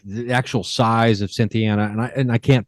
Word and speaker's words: Cynthiana: yeah definitely and the um now you're in Cynthiana Kentucky is that correct that's right and thanks for pronouncing it the right way yeah I mean